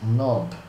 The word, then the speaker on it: knob: Esses dois outros botões, esse tipo de controle aqui, a gente chama de knob. K-N-O-B. Ou knob. Knob, que é o termo correto, a pronúncia correta.